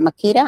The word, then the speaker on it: Makita: Is that Makita?